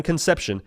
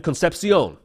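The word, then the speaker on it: Concepcion: NC State wide receiver Kevin concepion not Kevin conception Kevin concepion all right a little bit of little bit of an accent on there sounds like the big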